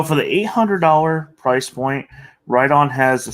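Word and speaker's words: Riton: you had what about Ron how do you pronounce it WR on or right on WR on right it's right on what do they have in this price point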